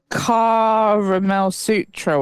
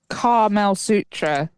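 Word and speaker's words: Karamel Sutra: That's It's spelled with a K. K-A Caramel Sutra. okay. It's like pronounced the way Americans would pronounce caramel because they're stupid.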